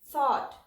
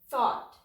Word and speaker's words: thought: GH is silent here. Caught. Fought. F, A, T. GH is again silent. Fought. Thought. The, A, T. Thought.